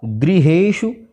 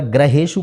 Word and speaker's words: गृहेषु: अब यहाँ पर गृहेषु, अब इसको अगर ग्रहेषु पढ़ेंगे तो गलत हो जाएगा। इसको गृहेषु इस तरह से री का उच्चारण करें।